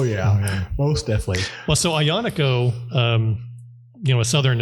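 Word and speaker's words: Aglianico: most definitely well so ionico um you know a southern Italian grape hard to pronounce I know because it has like this g in it but you don't pronounce the G um when the Italians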